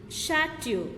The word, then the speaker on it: chateau: Okay, CHATEAU, chateu, CHEF, chef, BROCHURE, brochure. Okay, here CH is pronounced as sh.